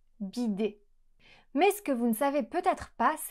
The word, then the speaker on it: bidet: La combinazione di lettere -ET alla fine produce il suono /e/. e se fosse stata una parola italiana, sarebbe stato sicuramente scritto con un accento acuto. "Bidé" Ma forse non sapete da dove deriva questa parola?